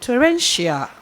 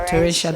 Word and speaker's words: torrential: paragraph two line one say the recent torrential it's called teresha the word is torrential okay so when you